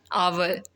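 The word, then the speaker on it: hour: Then N honest man, एन आवर. The letter H is silent, so the word begin with uh vowel sound.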